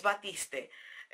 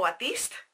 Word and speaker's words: Batiste: champú en seco batista para mí es batista otras personas lo pronuncian como batista está bien no hay no hay problema yo pronunció como lo leo bueno el importador de